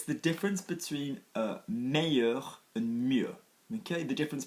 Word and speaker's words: meilleur: with one syllable yeah and if you are saying best which is one syllable in French you are going to go with two syllables mayor so to become one